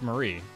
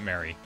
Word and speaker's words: Marie: Yeah, it's Marie, not Mary.